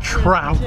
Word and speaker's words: Trout: Praise our Lord, Mike Truck. Ben is Mike Trout. Yeah. Truck. Say his name wrong again, I swear.